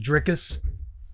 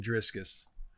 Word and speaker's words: Dricus: Hamzot and Dricus. Yeah. Drius Duplesi, right? There were comments in the YouTube that people were making fun of how pronouncing making their own my ass for saying Driscus, which I understand.